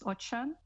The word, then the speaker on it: Ochan: I was just saying my surname is Ochan, so it's pronounced with an H.